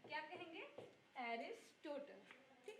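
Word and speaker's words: Aristotle: जिनको इंग्लिश में उच्चारण लेते हैं एरिस्टोटल। क्या कहेंगे? एरिस्टोटल।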